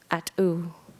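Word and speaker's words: at.óow: And in the introduction, there's a really beautiful explanation of at-u, and it's spelled A-T period, O with a accent mark, O-W, at-u.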